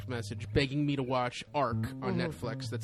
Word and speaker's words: ARQ: a direct text message begging me to watch Ark on Netflix that's spelled arq AQ M and it's got um